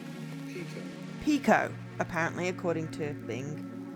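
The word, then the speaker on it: Pekoe: me just have a googly glue um pronunciation Pico Pico apparently according to thing Orange Pico which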